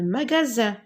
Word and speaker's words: magasin: Un magasin, regardez, le S entre deux voyelles se prononce Z, donc j'entoure.